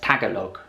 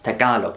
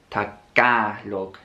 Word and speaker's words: Tagalog: foreigners pronounce talog wrong they'll say it as Tagalog when you should be pronouncing it as talog the middle syllable kind of has a a sound it's not a it's talog talog and then saying the name of the